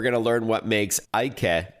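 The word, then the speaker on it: Äike: scooters with a company called Ike. It's spelled A I K E and the Estonian company has two dots over the letter A, which I think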